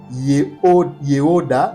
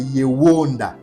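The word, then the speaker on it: Yehouda: C'est pas yeoda mais c'est yewonda. Yewonda, c'est ça la bonne prononciation.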